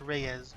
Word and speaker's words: Reyes: Oh, Reyes. I know it's pronounced Reyes, but I am a little stinker.